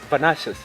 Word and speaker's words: Venansius: It's Venansius. It's Italian. It's Italian.